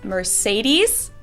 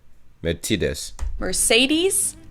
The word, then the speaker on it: Mercedes: at all um so most americans call this mercedes in german we pronounce it mercedes versus mercedes so it's really pretty different and the full name